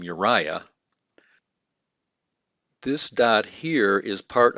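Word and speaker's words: אוּרִיָּה: here's an interesting one so we have uriah this is the name uriah this dot here is part of the vowel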